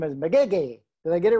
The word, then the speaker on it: Magege: name is and the last name is mcgeeky did i get it right did i say